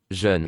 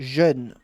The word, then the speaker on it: jeune: mauvais, chaque jeune, jeune.